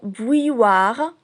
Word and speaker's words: bouilloire: Et si on décompose le mot bouilloire, on trouve qu'il renferme 300. Le son ou de vous, le son aille de taille et le son wa de toi. Bouilloire.